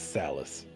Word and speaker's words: Salas: It sounded like Alice with an S at the beginning. I didn't hear any of it. I mean, you don't know how it's spelled, but it's Salas.